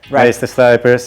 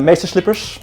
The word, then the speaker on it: Meesterslijpers: Meesterslijpers, it's very easy to pronounce if you're not Dutch. Yeah, we got them in all kinds. People tried it in all kinds of languages. The one that came back the most was Meesterslippers. Meesterslippers.